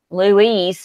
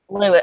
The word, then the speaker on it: Louis: And then the one guy who hasn't really been there to experience all the drama, Luis or whatever his name is, Louis. I'm sorry. It's spelled like Louise.